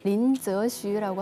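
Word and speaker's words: 林則徐: 그 임칙서 그 중국 발음으로 린저슈라고 하는데요.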